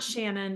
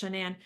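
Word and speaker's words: Shanann: shanan what's shanan yes it's not Shannon but it's shanan she did have a coffin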